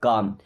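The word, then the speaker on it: calm: अब देखिए एम के पहले या के पहले कभी भी जब एल रहेगा ना तो एल साइलेंट रहता है। इसे कॉलम नहीं पढ़ते। काल में नहीं पढ़ेंगे। काम क्या पढ़ेंगे? काम।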